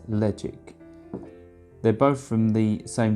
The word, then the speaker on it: Ledaig: the ledge ik ten-year-old it's spelt led AIG it isn't ledee gets ledge ik they're both from the